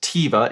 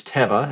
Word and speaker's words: Teva: Not Teiva, it's Teva. It's how it's pronounced.